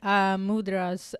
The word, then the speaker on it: mudra: So now you just mentioned mudras. What are mudras? Is that how you pronounce it?